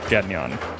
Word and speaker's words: Gagnon: Was the correct pronunciation of Gagnon? Gagnon. It's like Gagnon.